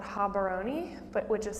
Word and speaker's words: Gaborone: capital, which is called Gaborone, but which is spelled Gaborone. I'll point it out on the map, but the G's in Setswana are actually H's.